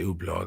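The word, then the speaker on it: Hublot: I love the way none of them pronounce it correctly. By the way, still today they can't say ublau. I have to say Hublau Veron Constantine and Lines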